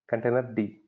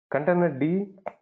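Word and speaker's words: containerd: container D container D that's how we know pronounce it container D container D or it can be Docker right Docker container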